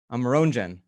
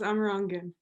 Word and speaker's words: Amerongen: I'm going to say it correctly, Amerongen. Very close, Amerongen. Amerongen, of course, the proper Dutch pronunciation.